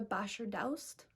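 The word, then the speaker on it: Bashardoust: So the next book I want to talk about is called Girl, Serpent, Thorn by Melissa Basher-Daust, is how you say her name.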